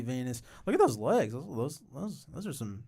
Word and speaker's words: venous: I'm gonna correct. That's probably Venus. No, it'd be pronounced Venus. I read like a Yeah, I mean it is in reference to his veins, but it would be venous.